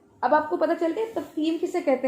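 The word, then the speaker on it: تفخیم: अब आपको पता चल गया तफखीम किसे कहते हैं? ताफा खौ या मीम, तफखीम, तफखीम कहते हैं मोटाई को। ये लफ्ज़ आप प्रोनाउंस करें, तफखीम, तफखीम।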